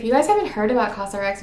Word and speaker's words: COSRX: PH Gel Cleanser from cosrx I think that's how it's pronounced actually let me look it up how is cosrx pronounced let's see cos RX okay I was kind of close but yes pick this